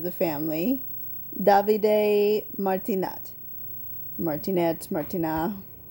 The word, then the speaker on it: Martinat: family davide martinat martinez martina here in america we would just say martinette but i think it was probably more like martina it's how you would really pronounce it so that's who she's